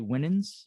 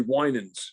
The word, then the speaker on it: Winans: about a man named charlie winnins if i'm pronouncing that correct charlie winans winan sorry and the impact he